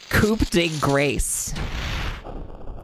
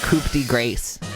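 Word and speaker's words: coup de grâce: to know is that tell us how to pronounce it's coup de grace that is the official pronunciation of coup de grace Sorry, I have to focus for this part.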